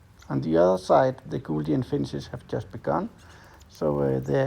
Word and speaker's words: Gouldian: And a fun fact, the Gouldian finches are actually called Gouldian and not Golds, as it's very common in Denmark to mispronounce.